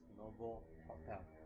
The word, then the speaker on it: Novotel: Novotel, pronounced as Novo Hotel, which means a new hotel.